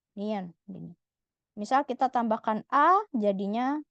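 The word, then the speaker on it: 니은: huruf nion huruf Nen dia dibaca sebagai huruf N bunyinya n niion misal kita tambahkan a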